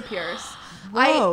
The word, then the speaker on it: Peirce: or you say purse well it's pronounced purse but it's p-e-i-r-c-e so it's just like